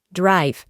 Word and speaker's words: drive: En presente simple, tiene la misma forma, drive, y su pronunciación es drive. Adelante de la I añadiremos una A y la E del final no se pronuncia.